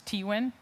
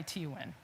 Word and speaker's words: Teuwen: like I keep mis The English pronunciation or the American pronunciation is Teuwen. We just had some Dutch consultant in and he corrected me on the the correct Dutch way to say it. It's Taywen. So I go by Teuwen.